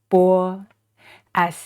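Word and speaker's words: bā: some exercises by using the initial b as in ba ba that is the number eight in Chinese so the initial is pronounced B and this final is the a so together b a ba and this tone is the first tone is flat try to make sure you keep it flat from the beginning to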